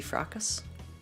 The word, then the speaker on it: fracas: way frenzy fracas frenzy fracas is how you say it frockus fracas ruckus ah without being burned